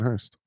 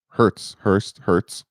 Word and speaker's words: Hurts: So I just don't like Jalen Hurst. Hurts. I say his name wrong.